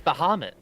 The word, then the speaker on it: Bahamut: Oh, it's Bahamut. Jay, you thought he was pronouncing As it you correctly as this you whole touch time?